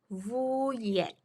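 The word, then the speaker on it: wujek: oke yang kedua vuyek vuyek W dibaca V J dibaca y vuyek Oke kemudian yang ketiga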